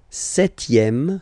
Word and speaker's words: septième: Le septième, so remember we don't pronounce this P here.